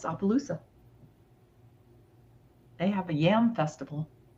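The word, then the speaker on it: Opelousas: Yeah, it's Opaloosa.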